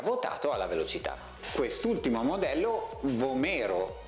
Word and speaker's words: Vomero: Quest'ultimo modello, Vomero o Vomero se pronunciato all'italiana, 15, cerca invece di ritornare